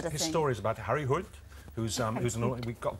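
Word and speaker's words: Harry Hole: His story is about Harry Hood, we got the pronunciation from him yesterday.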